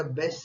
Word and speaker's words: bass: बाबतीत पण असतो, पण ज्यावेळेस म्युझिकच्या बाबतीत होतं बास साऊंड न म्हणता बेस्ट साऊंड बोलतात. फिशच्या बाबतीत असेल तर बास साऊंड, आणि म्युझिकच्या बाबतीत असेल तर बेस्ट साऊंड. ओके. शब्दाचं स्पेलिंग तेच आहे, फक्त उच्चार वेगळा आहे.